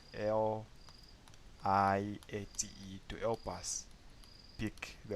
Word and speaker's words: LIATE: Okay, so using our letters L, I, A, T, E, I can pronounce that as liate.